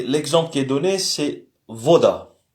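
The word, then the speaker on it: вода: Donc, le B se prononce différemment, se prononce comme V. Comme dans voiture. Et l'exemple qui est donné, c'est voda. Voda qui veut dire eau, voda.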